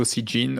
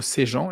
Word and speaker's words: Sejean: You pronounced it very well in English, but Sejean or Sejean in the French way.